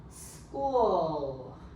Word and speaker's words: school: one er scuff the h is silent h l l at the back oh school school school is a